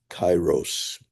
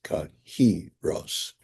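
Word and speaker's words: kairos: people pronounce Greek terminology just like most people in modernity called chyros of that time. But when you look at the syllabic formula in Strongs, it is kahros.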